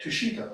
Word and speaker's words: Tushita: You know, part of which is dying and going to, I can't pronounce the name of heaven. Tushita heaven? Yep, Tushita, okay, yeah.